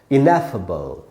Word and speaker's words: ineffable: इनएफेबल, इनएफेबल। इसमें दोस्तों नै में जो ए का साउंड है उसी पर स्ट्रेस है, यानी ए पर थोड़ा ज़्यादा रुकना है।